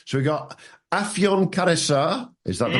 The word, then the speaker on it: Afyon Karahisar: So we got Afyon Karahisar. Is that the right way to pronounce it? Afyon Karahisar SHS.